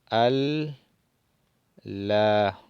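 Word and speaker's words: ألّا: lam, como pueden ver le ponemos la shadda encima de la para que haga el efecto de doble L. Entonces decimos al la, al la. Esta es la pronunciación.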